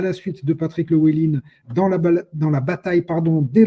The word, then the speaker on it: Llewellyn: Ce soir, nous avons le plaisir de retrouver Patrick Llewellyn, que je ne prononce pas à la gaélique comme il m'y a invité.